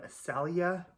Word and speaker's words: Saleya: written right here this is the louis vuitton salia pm and that's spelled s-a-l-e-y-a like i said i'm probably saying